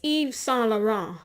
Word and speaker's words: Yves Saint Laurent: It's Yves Saint Laurent. I have been pronouncing that so that I could get that shit right.